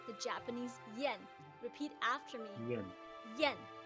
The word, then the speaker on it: yan: I-A-N in pinyin is pronounced as yen. Yen. Yen. Although its spelling is I-A-N, it actually sounds like I-E-N as in Japanese yen.